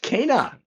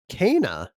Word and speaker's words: Kena: Pronounced Kena. Kena.